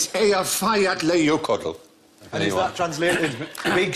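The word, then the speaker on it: Eyjafjallajökull: Ye Jaff Yali Jockroll.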